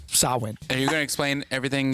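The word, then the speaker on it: Samhain: i agree with that sauhan sauhan sawin it's spelled s-a-m-h-a-i-n sawing are you gonna explain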